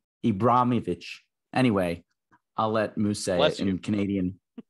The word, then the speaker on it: Ibrahimovic: Ted lasso was uh based upon Zlatan Ibrahimovic ibrimovic Ibrahimovic anyway I'll let Muse Canadian God bless there's no Canadian pronunciation for that he had a he had